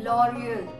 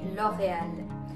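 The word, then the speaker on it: L'Oréal: and that is for an Indian it would be L'Oreal but for French it would be love end the r will happen perfect next up we have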